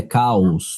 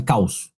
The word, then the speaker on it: caos: Porque isso aí é hiato. Ah, pelo amor de Deus. Entendi. A pronúncia correta é caos, não é caos. É caos.